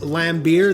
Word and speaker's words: Lambert: Now, I understand it's spelled Lambert, but it is pronounced Lambert.